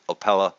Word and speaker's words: Opole: it correctly I went on Google found your pronunciation I still could have screwed it up but it's opella Poland is this was done at the University